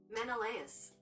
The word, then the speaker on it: Menelaus: Menelaus.